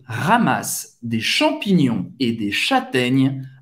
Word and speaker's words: châtaigne: Não, o E no final não dá para ouvir, não se pronuncia.